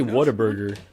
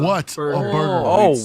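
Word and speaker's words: Whataburger: first you say it why can you not pronounce things dude I say I say waterburger but I'm not from from the area like like the like the element water no not it's what like what a burger what see yeah what a Burg water why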